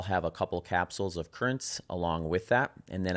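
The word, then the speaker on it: CurraNZ: Currents, which is spelled Cur Ra N Z, is a pre-workout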